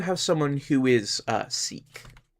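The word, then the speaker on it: Sikh: someone who is uh seek or sick or however how however you pronounce that particular religion, right? Um I'm going to go with seek because that's what I always hear and uh the people locally to me um who are generally pronounce it as seek.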